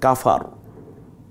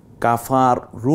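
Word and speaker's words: كَفَرُوا: নটা উচ্চারিত হয় যেমন কাফারু কাফারু না বলে আমরা কাফার বলবো এরপরে জালিকাল কিতাব এখানে যদি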